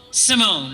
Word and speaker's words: Simone: give it to Kayla did I say your last name wrong tell me the room it's Simone Simone all right see I